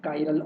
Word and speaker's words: chiral: So similarly, the molecules which are not superimposable over each other are called chiral, and sometimes they pronounce like chiral also.